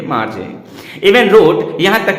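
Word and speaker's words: Margie: मार्जी आर silent कर देंगे तो मागी हो जाएगा, पर हम हिंदी भाषी लोगों के लिए मार्जी।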